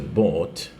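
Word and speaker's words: bought: de whenge después el Bots no le tenga miedo esta palabra la pronunciación es muy fácil es como una B una o una t sin embargo la o se hace más alargada Bot acá leíste entonces fíjense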